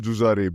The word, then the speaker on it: Jujare: Jujare, is that a good pronunciation or a decent one at least? It's a decent one. It's called Jujare because we pronounce our E's as A generally.